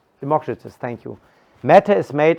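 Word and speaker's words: Democritus: explain so what is matter made of so democritos what's the English pronunciation democratus thank you Mata is made of indivisible atoms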